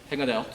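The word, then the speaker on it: Hengetort: C'est la Engenhort, prononciation allemande. Engenhort.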